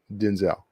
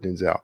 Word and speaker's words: Denzel: pronounce it welcome Sarah how does he pronounce it he pronounced it Denzel he pronounces it Denzel you know what's funny